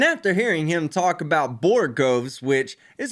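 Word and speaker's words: borogoves: of justice and after hearing him talk about borgoves which is how you actually pronounce it I found a couple of interesting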